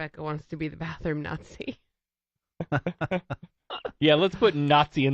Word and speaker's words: Nazi: And he was calling it Nazi. And I'm like, it's Nazi.